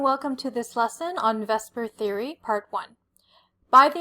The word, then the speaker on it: VSEPR: The vesper and vesper theory is an acronym which is why it looks like it's spelled so funny and it doesn't really look like a word.